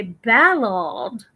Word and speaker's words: Ballard: do some crazy stuff oh the way they pronounce Ballard so in Britain they say battled oh wow oh right